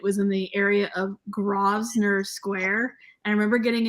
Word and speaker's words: Grosvenor: And I remember getting in a taxi, and I'm like, I'm going to like Guvesonairs. Yeah, just because it's in English doesn't mean that we can say it correctly.